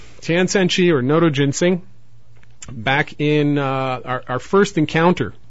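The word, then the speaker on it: Notoginseng: Tian San Chi, its Latin name is Noto Ginseng, spelled N-O-T-O-G-I-N-S-E-N-G. Again, N-O-T-O-G-I-N-S-E-N-G. Now, why Tian San Chi? Tian San Chi, or Noto Ginseng, back in our first encounter here in the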